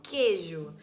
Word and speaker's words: queijo: na palavra queijo queijo eu não escuto o barulho do u eu não falo queijo eu falo queijo como se fosse com K Então nesse caso q